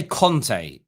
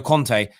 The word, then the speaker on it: Conte: The amount of people I hear call Antonio Conte, Antonio Kante, it actually annoys me.